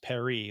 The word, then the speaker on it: Paris: to be pronounc or wanted Paris to be pronounced Perry like it would be in the French dialect.